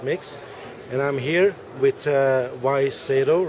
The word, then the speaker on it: Wai Seto: and I'm here with Y Seto, right? Yes. Is that how you say it?